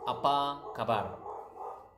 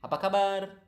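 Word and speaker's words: apa kabar: how are you it's apaa kabar okay apaa that's how you say how are you aakar so natural speed would be aakar aakar okay so yeah so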